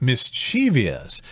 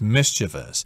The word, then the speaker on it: mischievous: should mention that the word mischievous is often mispronounced as mischievous it's one of those words that is mispronounced so often a lot of people think it's the real word but technically the correct form is mischievous if you show a Mischief you are a